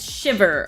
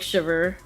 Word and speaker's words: Shiver: Yes, it's it's Shiver. Okay. Or Shiv. Okay. Got it. Thank you. Hello, Bleep Bloop. Welcome. It's pronounced like Shiver. Like cold.